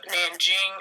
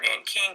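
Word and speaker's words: Nanjing: the capital city of Nan Jing or Nan King I've heard it pronounced both ways um so I apologize if one of those is wrong but one of them's right so cover myself there I really have heard it both ways so I'm not I'm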